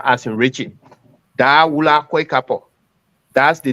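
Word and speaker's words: Dahwula: the Cash App or something, the name is Dawula Kwekapo.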